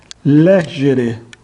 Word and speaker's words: legere: Estará na penúltima se ela for longa. Delere. E estará na antepenúltima se a penúltima for breve. Legere.